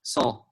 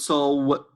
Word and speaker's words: saw: And mind you, this is pronounced as saw, not so.